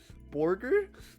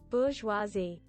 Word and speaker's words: bourgeoisie: Borger? How to pronounce. Jesus. Bourgeoisie.